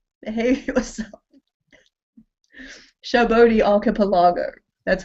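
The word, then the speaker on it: Sabaody Archipelago: Shabodi Archipelago. That's how you pronounce it in English.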